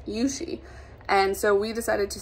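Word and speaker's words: Yuxi: a while and so her name is spelt y-u-x-i and she's chinese and her name is pronounced yushi and so we decided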